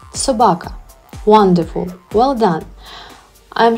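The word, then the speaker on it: собака: best friend and protector let's try to learn how to pronounce the world dog in Ukrainian Sabaka once again Sabaka wonderful well done I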